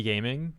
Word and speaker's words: Gaming: Ga is the Cantonese pronunciation of Jia.